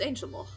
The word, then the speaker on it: Angel Mort: That's why I don't pronounce it Angel Mort, by the way, Angel Mort, as in the mort d'Arthur, the death of Arthur. It's Angel Mort.